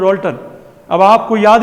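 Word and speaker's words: Dalton: Pronunciation क्या है इसका? डाल्टन, भले डीए लिखा हुआ है, ठीक है, डी उसके ऊपर चंद्र बिंदी लगती है।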